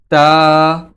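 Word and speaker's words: ت: তো তার মাখরাজ হচ্ছে জিহ্বার আগা সামনের উপরের দুই দাঁতের গোড়ার সঙ্গে লেগে তা উচ্চারিত হয়।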